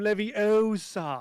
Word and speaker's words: Leviosa: Wingardium Leviosa, Not not Leviosa. Leviosa. Yeah, No. you put the wrong emphasis on the wrong syllable.